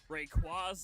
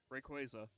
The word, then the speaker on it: Rayquaza: that Legendary Pokemon Rayquaza it's like the word Ray it's the word quaza quaza Rayquaza nice and quick that's how I pronounce it Al hello nety welcome